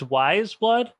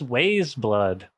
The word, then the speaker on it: Weyes Blood: more stuff well I it's wise blood yeah I think I thought it was I was like what's Waze blood because it's spelled I don't I wasn't